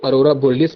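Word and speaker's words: aurora borealis: इसको अरोरा बोलियस बोलते हैं।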